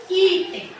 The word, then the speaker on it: item: aqui a palavra item eu vou acentuar a palavra item item o i é mais forte é uma paroxítona que terminou em em portanto eu não acentuo então o que eu